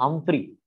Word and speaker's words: Humphrey: में आ रहा है तो उसको बोलते हैं हम्फ्री। स्पेलिंग लिख रहा हूं मैं, HUMPHREY सीरीज।